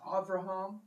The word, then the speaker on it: Abraham: and said to him, Abraham. And he said, Here I am. The way I read that would be Abraham. The B would be pronounced as a V.